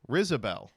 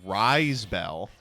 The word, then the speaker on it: Rizabel: Rizabel. It's not Rizabel. It's Rizabel, and Sambel is the drip queen.